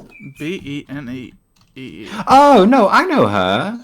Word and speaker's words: BENEE: How about I don't want to mispronounce her name. Benet. I think she's from New Zealand, maybe. I don't Benny? know. How do you spell that? What? It's Benee. Benee.